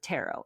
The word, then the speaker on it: tarot: But I always knew this the T was silent, but I never really